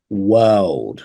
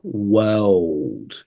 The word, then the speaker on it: world: don't like it so we have word and then we have world this dark L which causes a lot of tricky uh lot lot of difficulty for many uh Learners so just watch out